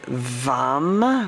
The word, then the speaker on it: vam: this energy visualize orange the one syllable Sanskrit um Mantra is vam with a V and it's a medium tone M to enliven to